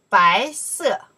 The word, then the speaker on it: 白色: Okay, let me say second tone. 白色.